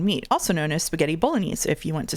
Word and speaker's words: bolognese: It's it's it's pronounced Bolognese. And here's why in French it would be A's.